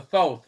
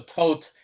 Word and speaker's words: Thoth: He had invented the tarot deck called the Thoth, or the Toth, different ways of pronouncing it, Thoth deck.